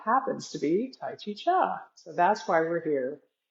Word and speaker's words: Chih: And we're here again today at the Cancer Support Community to do some Tai Chi Cha. That third little word is pronounced cha, like chuck wagon.